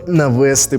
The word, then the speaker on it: навести: Але ти вгадав молодець інфінітив мають наголос на Що на кінець це дуже просто це